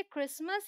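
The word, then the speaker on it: Christmas: Alright, अब इसे आप देखिए क्रिसमस, ये आप याद कर लीजिए कि यहाँ पर भाई टी साइलेंट है और यहाँ इसे बोलते हैं मॉर्गेज।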